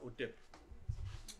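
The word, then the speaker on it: hotep: Ça c'est translitère, en fait c'est HTP. Ok? Et on prononce ça OTEP.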